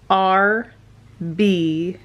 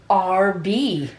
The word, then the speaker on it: Arby's: when you realized that Arby's is just pronounced as RB which is short for roast beef I was today years old whoa mind blown RB yeah a r b